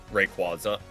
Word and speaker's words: Rayquaza: How do you pronounce Rayquaza? Rayquaza.